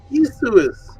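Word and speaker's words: Ἰησοῦς: that the age How do you say Jesus in in Greek? It's Isus.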